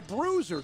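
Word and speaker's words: Bruszer: deontay think that anybody whose last name is bruiser is good spell differently though that's how you pronounce it b-r-u-s-z-e-r taylor the quarterback with orenze to his left first down at the conley 30.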